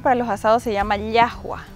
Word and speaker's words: llajua: En Bolivia la salsa típica que usamos para los asados se llama llajua. ¿Yajua? Así se pronuncia y se escribe llajua, con J también.